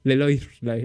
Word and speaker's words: Leloir: Ah, no, Leloir. Pensé que tenía una doble L.